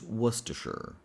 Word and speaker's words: Worcestershire: Why would you add all of these letters if you're not going to pronounce them? But anyway, let's do this. So the word is Worcestershire.